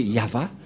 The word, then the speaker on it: Yahvah: de de yava et la prononciation de y h V selon les hébreeux c'est yava et personne ne peut